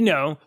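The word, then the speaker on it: Ngo: with Andy no Andy no is a his name is how do you NG yeah NG is pronounced as an N it's no yeah no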